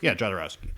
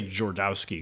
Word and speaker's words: Jodorowsky: Did I say it right? Jodorowsky? Yeah, Jodorowsky. Yes. I used to say Jordowski because all those letters were like felt like they were jumbled together, but no. It's a Polish name, right?